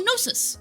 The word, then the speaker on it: Gnosis: Pronounce Gnosis. Oh, Gnosis. Noxistock. Okay. That was pretty close. I was just adding a weird G sound in there. G silent.